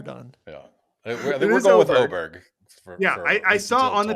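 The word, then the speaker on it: Åberg: what football players rise will resemble ludvig oberg's oberg aberer Tron you're the expert for yeah that's that was far better than I've ever done yeah we're going with oberg I I saw on the PGA pronunciation it's say oberg his next five years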